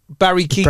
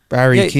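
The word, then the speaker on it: Keoghan: Barry Keegan. Barry Keegan. Yeah. Really? Yeah, I didn't know how you pronounce his surname because it's spelled Irish. Barry Keegan.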